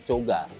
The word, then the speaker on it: Koga: ya Koga itu sebenarnya Kalau di kampung gua itu dibacanya coga coga coga itu bukan cowok